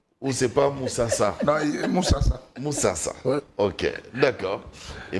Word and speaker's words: Musasa: J'ai bien prononcé, hein? Moussassa. Ou c'est pas Moussassa? Non, Moussassa.